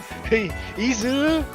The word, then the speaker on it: Izuru: I've been learning Japanese for a while and I keep saying the I is American. It should be E, right? Well, because you never learned pronunciation, you just learned how to read it. Fair enough. Okay. Izuru Hitachi.